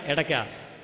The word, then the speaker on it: ഇടയ്ക്ക: ഉറക്കെ പറയൂ നോക്കട്ടെ പോരാ ഒന്നുകൂടി അടയ്ക്കല്ല ഇടയ്ക്ക ഇടയ്ക്ക ഡക്ക എന്ന് പറയുന്ന സംസ്കൃത പദമാണ് ഇടയ്ക്ക എന്നായിട്ട് ഉച്ചാരണം മാറിയത് കുറച്ചുനേരം അദ്ദേഹം അത് വായിച്ചതിനുശേഷം